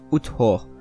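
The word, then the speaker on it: Ḥwt-Ḥr: palette de la mer en égyptien elle se prononce ou thor qui signifie la demeure d'horus sa représentation j'en suis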